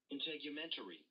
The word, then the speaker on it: integumentary: integumentary.